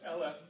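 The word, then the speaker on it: אֶלֶף: And of course, the word thousand is the word aleph, is just vowed differently, and it becomes eleph.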